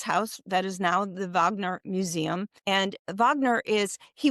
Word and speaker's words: Wagner: year for the Vag, they pronounce it Vagner, the Vagner festival.